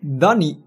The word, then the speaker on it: Duny: came to it all right here we go Danny that's the correct pronunciation Danny anyway oh look at the floor